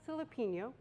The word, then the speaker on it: Silipigno: My name is Silipigno. It kind of rhymes with jalapeno or Filipino, if that helps you remember it.